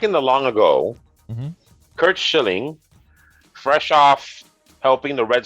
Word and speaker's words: Schilling: out of this one, but Curt Schillings, is that right? Oh my god. Oh my god. Did Curt I say it right? Schilling. Oh, He may be Schilling. an asshole, but at least get his name right.